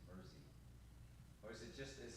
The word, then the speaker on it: Mersey: It's not Mercy, it's Mersey.